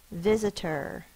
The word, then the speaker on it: visitor: The last word, visitor. Visitor. V-I-Z-A-T-er. V. I. It's a short I sound. Z. You can say visitor, but most of the time we say visitor. It's a Z sound.